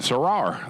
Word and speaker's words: Sarar: See how they say it, Sarar. That's it.